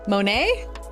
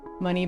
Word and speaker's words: Monet: Da Vinci, Van Gogh, Money, Banksy. Oh yeah. Banksy's really cool, actually. Oh, Monet. Oh, yeah. Okay, not money.